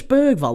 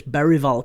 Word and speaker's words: Bergvall: Is it Lucas Bergvall or is it Lucas Berryvall? Because they kept calling him Lucas Berryvall on the commentary. But I'm going to call him Lucas Bergvall because that's certainly how it's spelt.